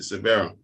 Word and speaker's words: Sabera: Is that how I pronounce it? Sabera. Yeah, that's me.